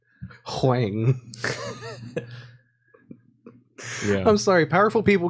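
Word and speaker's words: Huang: really like that guy Jensen Wang no it's with an H hang yeah I'm sorry powerful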